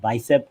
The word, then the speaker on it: BICEP: the book i i don't know we should pronounce it bicep and bicep one and bicep two right so